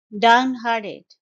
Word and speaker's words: downhearted: long-term partner down harded it's a three syllable word stress is on the second syllable hard hardened down harded and the T sound is not very strong T it's more like d in the end so it's downhearted down harded his failed